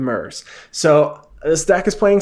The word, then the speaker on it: Myr: I am playing some mirrors. Or, I'm sorry, I've been pronouncing this wrong based on everything that I see. Everybody calls them Murs.